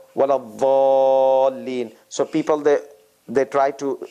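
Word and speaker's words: ولا الضالين: So the teeth, there's no Z sound in this. This is like the Saudi Arabia and those region pronunciation and others. And then Iraqis and some others, they pronounce it with a Z sound, with a hissing sound.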